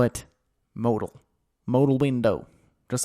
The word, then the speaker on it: modal: Launch the demo Modal. You see? But many of you just thought that sounded silly, and technically it's not how you say it. You say it Modal.